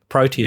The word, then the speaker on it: Proteus: How do you guys pronounce it? Proteus? Yes. Yep. Proteus, yeah.